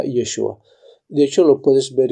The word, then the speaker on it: Yeshua: todos que es yeshua Ahora más adelante dice yehoshua que es la forma como se pronunciaba en la Biblia antes de el retorno de Babilonia cuando fueron deportados a Babilonia se decía yehoshua y al volver se decía yeshua de hecho lo puedes